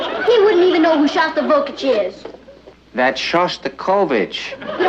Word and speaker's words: Shostakovich: He's taking me to hear Shostakovich tonight. Honey, I think that's pronounced Shostakovich.